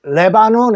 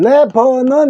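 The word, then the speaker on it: Lebanon: 러시아의 수도는 모스코 자 그다음에 일곱 번째 나라 레바논 있니다 레바논 그대로 읽어볼까요 레 레바논 그렇죠 레바논 그대서 레바논인 영어로는 레버넌 이네요요 레는 똑같은데 요거 아를 어로 읽었죠 버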